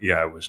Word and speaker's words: Yahweh: that you start celebrating it, that you revere Yahweh's name, and that you pronounce it correctly.